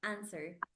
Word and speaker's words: answer: to the question yeah because the W is silent it's mute answer answer answer yeah let